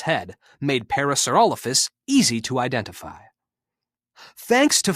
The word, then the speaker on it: parasaurolophus: clay dinophile name parasaurolophus how to say it parasaurolophus when it lived late cretaceous period mesozoic era